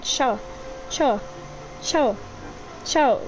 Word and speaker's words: Xiao: 菱 I think it's the easier with Chi-Chi to pronounce, and the last one. And one last good boy. 萧 xiao xiao 萧 Xiao.